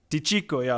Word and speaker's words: Di Cicco: the Chico to teach the teacher be Chico DeCicco a thought sir because sometimes with the CC you after you pronounce a chi sometimes yes like a put